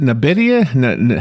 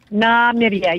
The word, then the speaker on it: Namibia: for future Generations okay and and is it nabidia how do you say the name of the country so it's a lot of people have a hard time pronouncing it oh with a v Namibia yes with the B okay okay okay got